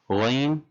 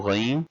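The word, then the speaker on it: غين: Ghain, just like the sound is created when we gargle. So Ghain, gargle sound.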